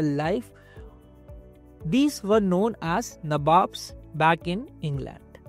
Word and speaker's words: Nawab: These were known as Nawabs back in England. Nawabs or Nawabs, that is their English pronunciation of the word Nawab.